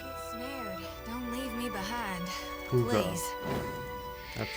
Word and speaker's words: Pugra: Pugra. Please. That's how you pronounce it.